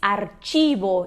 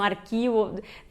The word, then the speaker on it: archivo: Bom, se diz archivo, então às vezes as pessoas pensam arquivo, não pensa na hora que é archivo, só que o CH em espanhol tem esse som de ch, então archivo.